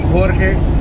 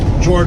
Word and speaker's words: Jorge: share stories and if they have a hard time saying my name Jorge I go by Jorge to friends and family as well George will do just fine the reason I'm going